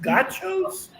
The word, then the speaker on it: gaucho: But I mean, is it pronounced gauchos?